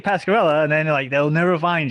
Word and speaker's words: Pasqueralle: Yeah, because if I say Pasqueralle, and then they'll never find you. Pasqueralle, Pasquerelle. End of the E, pronounced with an A.